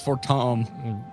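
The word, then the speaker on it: Fortemps: Excuse to remember that it's Fort Tom.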